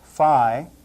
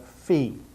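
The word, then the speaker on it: φι: looks just like this some of you may have learned to pronounce this fi but not now we're going to call it Fe a lowercase fee can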